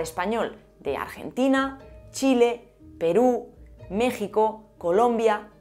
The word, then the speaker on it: México: Hay algunos nombres de lugares en los que la X no está a inicio de palabra y también se pronuncian como J o como sh porque se han fosilizado, como México o la isla de Holbox.